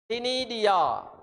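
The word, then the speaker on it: ctenidia: called a tiny diy tinidia sea silent tinidia t e and that pronunciation that's um phonetic sound a tinadia a feather like gills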